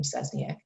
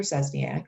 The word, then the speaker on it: Szczesniak: you have to use my whole last name cesniak but i do tell the students just call